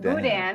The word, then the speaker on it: boudin: Someone explained this, Ron from Overcoming Carbs, pronounced boudin, at least Cajun country.